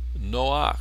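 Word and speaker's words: נח: precede Entonces se pone esta esta patac se pronuncia ruaj ruaj también con el nombre noaj Noe sí tenemos también este patac que no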